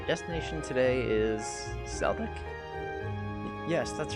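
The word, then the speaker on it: Celdic: just a moment oh it's Celtic okay kind of I guess I just assumed it would be a soft C instead of a hard say I'm sure kind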